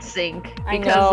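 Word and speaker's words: Psync: I hate that it's pronounced sync. Why? Silent P doesn't work this way.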